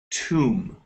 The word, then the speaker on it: tomb: And this word right here, Luisa, we actually pronounce tomb. Tomb. Okay, right here. Okay. It makes an ooh sound.